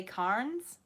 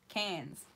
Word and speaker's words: Cairns: They say Cairns. We don't pronounce the R's. Melbourne, Cairns.